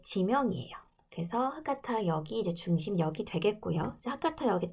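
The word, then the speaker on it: 博多: 자, 여기 보면 후쿠오카 하면 하카타역이라고 되어 있죠. 하카타라고 읽어요.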